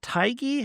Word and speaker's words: Tighe: Is it Tighe? How do you pronounce his name? Tighe? Kevin I thought it Tighe? was Teague. It Ti- just sounded like Teague? Teague.